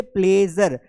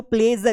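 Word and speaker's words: pleasure: जैसे प्लेजर, तो यहां पर हमको पता है ई का मतलब ए निकलता है, साउंड ए निकलता है। तो प्लेजर, इसे प्लीजर नहीं पढ़ना है।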